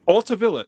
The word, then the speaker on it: Altavilla: It's not Hispanic, so it's not Altavilla.